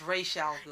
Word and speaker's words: Ra's al Ghul: to save Gotham City from the Shredder and Ra's al Ghul. Yes. Actually, it's Ra's al Ghul. Yeah, sometimes I'm like, wait, was that how it's pronounced?